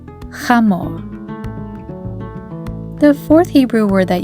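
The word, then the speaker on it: חמור: The third word is chamor. It is the Hebrew word for a male donkey. Repeat after me. Chamor. Chet, Mem, Vav, and Resh all together spell chamor.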